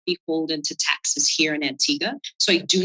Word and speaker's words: Antigua: gets there's no that's Antiga with a u we don't pronounce the you and that's